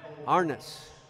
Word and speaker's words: Arnis: guide from John Jordan it's arnis I had an extra a in there so it's arnis doe teres second free-throw